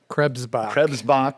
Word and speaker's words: Krebsbach: Scott Krebsbach, did I say it correctly? Krebsbach. Don't forget the BS.